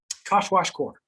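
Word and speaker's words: kwashiorkor: that depressing image in our head all right wash core that's how you pronounce that this is under nutrition as a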